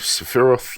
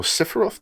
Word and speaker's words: Sephiroth: allies in pursuit of sephiroth or cipheroff depending on how you say it a former member